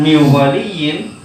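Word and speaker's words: مِنْ وَلِيٍّ: Kenapa dibaca min waliyin? Karena hukumnya adalah idgham bigunnah.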